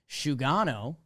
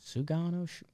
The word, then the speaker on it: Sugano: I think Japanese names are typically phonetically spelled. Sugano. They're usually as served to you.